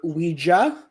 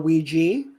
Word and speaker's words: Ouija: back in the 1800s he said that it could be pronounced either Ouija or Ouiji okay and why did